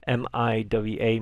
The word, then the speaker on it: Miwa: not I'm not going to be able to pronounce it. Mininoa. M I W A Miwa.